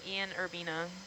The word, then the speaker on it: Ian Urbina: Ian Urbina. That's how you pronounce his name.